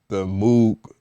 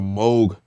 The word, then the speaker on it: Moog: Like that's the nature of like the Moog or the Moog. I'm sorry, Moog. I do apologize for saying your name wrong, but the Moog Model D.